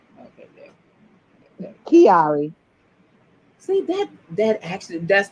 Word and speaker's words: Chiari: to say the name i was like okay kiari see that that actually that's the funny thing if you look at nae it's pronounced actually just like nae's middle name but